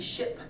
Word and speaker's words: SHIIP: They're called SHIP, but it's spelled SHIIP.